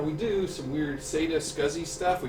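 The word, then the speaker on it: SCSI: Okay, it's called Scuzzy. That's pronounced Scuzzy Connection.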